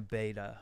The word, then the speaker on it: betta: good fish keeper well being a beta or betta or however you want to pronounce it wherever you are in the world they are a labyrinth